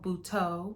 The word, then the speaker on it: Buteau: Jill Scott as Hazel, Michelle Buteau, I want to make sure I say it correctly, as BREE, and Ryan Michelle Bethay as Ari.